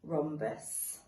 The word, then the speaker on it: rhombus: be rhombus rhombus but we don't say the Humber's we just spell it like that but it is actually rhombus okay let me give